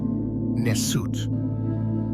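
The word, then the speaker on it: nswt: The B symbol of lower Egypt pronounced BT and the SGE symbolism of upper Egypt pronounced Nessut.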